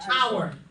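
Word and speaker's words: hour: have engl whatl and how do you spell our h o r that H is silent how do you spell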